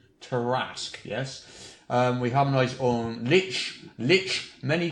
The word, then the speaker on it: Lich: We harmonise on Lich, many prefer Lick, but we've established that's incorrect, Lich, and Tiamat is Tiamat.